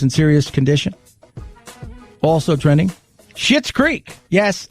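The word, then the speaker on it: Schitt's Creek: serious condition also trending shit's creek yes i didn't say it like that that's an actual name s-c-h-i-t-t-s creek crushed it won the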